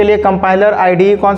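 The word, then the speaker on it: compiler: कंपाइलर, कंपाइलर बहुत सारे बच्चे इसको पढ़ते हैं कंपीलर, कंपीलर नहीं है कंपाइलर, टीचरों का ही पढ़ देते हैं कंपीलर। ध्यान रखना इस सब चीज़ का, कंपाइलर इसका करेक्ट प्रोनाउंसिएशन क्या है, कंपाइलर। ये कंपाइलर क्या होता है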